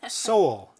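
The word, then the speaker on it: Sohl: This is a brand new game by, and he sent me the pronunciation of his name. Okay. So I wouldn't mess? Up. Okay. AKA Soul, S-O-H-L.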